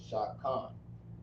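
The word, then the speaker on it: שכן: Next word is going to be neighbor, which is shakayan, or like shakan.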